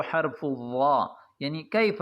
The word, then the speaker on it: الظاء: الظاء يعني حرف الظاءهم يجب ان تخرج لسان جنين عندما تريد ان تنطق حرف الظاء صحيحا بتلفظ صحيح فعليك ان تخرج لسانك يعني تخرج لسانك النكالنا اشكرك وبارك الله